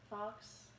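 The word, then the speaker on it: Fax: my last name is Fox that's why f a x that's I know Fox is usually fo ox but spell like you pronounce it differently it's just spelled different but um yeah so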